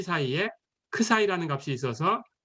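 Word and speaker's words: ξ: 이 열린 구간 안에 K보다는 크고 C보다는 작은 어떤 수, 그걸 크 사이라고 할까요? 이거 크 사이입니다. 예, 그리스 문자 14번째 문자고요. 영어로 쓰면 크 사이 이렇게 쓰고요. 발음 기호는 크 사이 이렇게 읽으시면 되고요.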